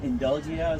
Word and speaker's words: Indulgia: It's called Indulgia. So Indulgia is a blend of indulgence and nostalgia.